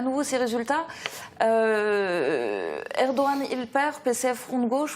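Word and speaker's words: Erdoğan: réserve, hein, et ensuite, bon, c'est Erdogan. Je sais que je l'ai déjà entendu, c'est Erdogan, et c'est important peut-être de le prononcer correctement.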